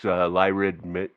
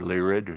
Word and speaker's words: Lyrid: And then also there was that was followed up by last week's Lyrid meteor shower, or Lyrid, however you would prefer to pronounce it.